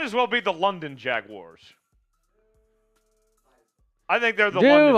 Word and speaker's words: Jaguars: overall to the Jacksonville Jaguars how do you say Jaguars by the way Jaguars Jaguars uh I I get corrected by uh Sam Brown during Alexis it's not Jaguars Jaguars oh yes Jaguars they might as well